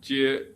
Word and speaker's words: 皆: And the third character, jie, is pronounced as jit, entering the ends with an aspirated T.